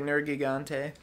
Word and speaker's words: Nergigante: However, I always go for the hard G.